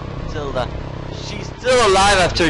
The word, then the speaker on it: Gruntilda: I always pronounce it Gruntilda from some reason, and it's Gruntilda.